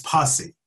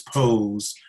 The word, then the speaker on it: Pose: And this person referred to Pose as posse.